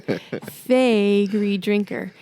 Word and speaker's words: Faegre Drinker: that Mark is I always tell people to remember we are your favorite lawyers that's how you remember fagy Drinker and so yeah so